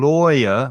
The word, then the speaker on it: lawyer: lie in court and notice the difference in pronunciation between a liar a person who lies and the vowel sound is i lie liar and lawyer which has a different vowel sound the same vowel sound as door or more or so